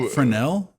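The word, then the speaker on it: Fresnel: then the um the DLP like the uh Frenel lens from a DLP TV like basically like a magnifier. Okay. Wait, how that's how you pronounce that? Frenel.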